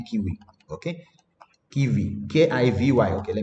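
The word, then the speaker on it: Kivy: Yeah, see, the way they pronounce it is actually Kiwi.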